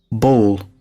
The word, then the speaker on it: bowl: And the word ball, the round thing, it's just one sound. Ball, ball. Ball. Bowl. Sounds very close, I know. But there is a tiny difference that you can hear if you train your pronunciation. Ball versus bowl. Ball versus bowl. In American English, I feel like the difference is bigger.